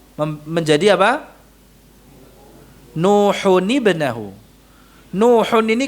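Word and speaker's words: نوح: ibnahu menjadi apa nuhahu Nuhun ini kan asalnya di dalam pelafalannya nun sukun Nuhun Nah itu dibacanya nuhuni kalau disambung dengan ibnahu maka Nuhun yang asalnya di dalam pelafalan itu nun sukun diharakatkan Nuhun menjadi NU huni gitu ya Nuhun ini loh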